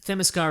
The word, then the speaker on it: Themyscira: was that it's that Themyscira has always been there. Yeah. We're going to get a lot of emails about mispronouncing Themyscira.